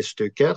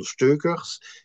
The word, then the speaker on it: Steuckers: Ah ben ça dépend à qui je m'adresse. Si je m'adresse à un compatriote francophone, je dirais Steukers. Si je m'adresse à un néerlandophone, Steukers.